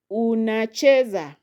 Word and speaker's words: unacheza: Then we have unacheza. Unacheza. So that is four syllables. So the second from the end is che. So you will stress there on chee.